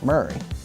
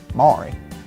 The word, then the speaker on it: Maury: spelt Murray m u r r a y pronounced Murray so that's how we know the correct pronunciation is supposed to be Murray and not Mari so uh that puts the debate to rest